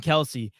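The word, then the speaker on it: Kelce: It's like it's actually not Kelsey. No, it's actually Kels. Like everyone's been saying it wrong.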